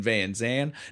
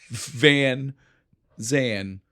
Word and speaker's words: Van Zan: McConaughey is playing Denton Van Zan, not Van Zant. No, there's no T. No T on that Zan.